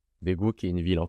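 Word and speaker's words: 대구: Par exemple, la première syllabe du premier mot, c'est un D et le E, c'est D. Et la deuxième syllabe, c'est le KG. Ici, je sais que c'est un G. Et le OU. Ça fait Daegu.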